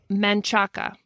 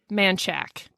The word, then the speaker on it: Manchaca: There's one that is Manchaca. That's how it looks. That's how it's pronounced. Manchac.